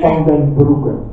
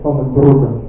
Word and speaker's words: Van den Broeke: But it's pronounced as Van den Broeke. With a running R, Van den Broeke.